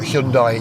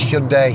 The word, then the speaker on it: Hyundai: It's not Hyundai, it's Hyundai, even I've forgotten.